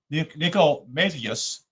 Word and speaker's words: Nicomachus: Nicomacheus, that's spelled Nicomachus, and other Greek philosophers considered it as the only one which can be regarded as strictly analogous.